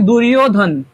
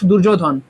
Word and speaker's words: দুর্যোধন: বাক্যের মাঝখানে থাকবে দৃষ্টতু পান্ডেনিকাম দুর্যোধন আবার এখানে উচ্চারণ হয়েছে দুর্যোধন নট দুর্যোধন দুর্যোধন কখন হবে যখন আমরা বাংলা উচ্চারণ করব